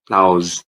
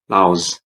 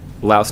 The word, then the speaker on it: Laos: Now let's travel to Southeast Asia and talk about Laos. Yeah, don't say Laos or Lao. Please say Laos.